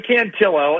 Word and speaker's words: Cantillo: Hey Jayloo is uh tonight's starter Cantillo or Cantio, how do you say it? Yeah, Joey Canillo.